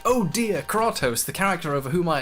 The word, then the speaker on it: Kratos: When beated in God of War, the player doesn't say, "Oh dear, Kratos, the character over whom I exert control, has been killed."